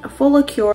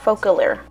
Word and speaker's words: Focallure: by a brand name full of cure hey so future Ally here I'm actually pronouncing the brand name right wrong the entire time which actually pronounced a focal or focal ear word and I didn't